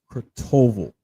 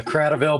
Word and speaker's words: Cradaville: Kurtoval. I'm hoping I'm pronouncing it right. did I get it right? You're very close. It's Cradaville, but it's a tough last name.